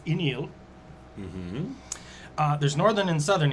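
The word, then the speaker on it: Uí Néill: So there's Iníl, which is spelled U-I with a little over the I, space, N-E with a little over it, I-L-L. That's Iníl.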